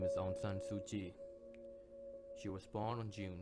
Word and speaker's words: Aung San Suu Kyi: got it not a problem her name is Onan sui she was born on June 19 1945 her